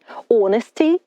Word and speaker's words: honesty: loyalty вірність loyal вірний honesty чесність hest чесний Honor честь honorable порядний благородний Увага друзі літера H на початку цих слів не вимовляється ця літера німа і вона не звучить bravery - хоробрість Brave